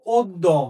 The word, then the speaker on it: অদ্য: শব্দটা তুমি দেখতে পাচ্ছ এই শব্দটার উচ্চারণ হলো অদ্য। শব্দটার উচ্চারণ কি? অদ্য। কিভাবে অদ্য? এই যে দেখো, তুমি একদম সুন্দর মতো দেখো, এখানে একটা কি রয়েছে, এখানে একটা অ রয়েছে, ঠিক তারপরে দয়ের সাথে ব্যঞ্জন পদের সাথে একটা জফলা রয়েছে।